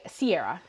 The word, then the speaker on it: Ciara: like that so I Sierra is how I go by but apparently it's actually a like European name and it's supposed to be like something more close to Kiara as far as I